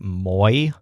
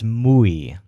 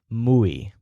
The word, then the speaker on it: muy: pronounce this word like moi which is not a word it's muay so if you moo like a cow you'll pronounce it more like a native speaker muay okay so you can't